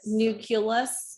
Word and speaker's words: nucleus: you if you say nucleus you so remember it's nucleus because it's nuclear like a nuclear family or nuclear war or nuclear power it's not nuclear weap